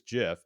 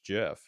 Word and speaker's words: GIF: in the tech sector about how to pronounce is it GIF or GIF? I just learned from one of the podcasts I listen to on the Linux community that it is GIF because the programmers said choosy programmers choose GIF.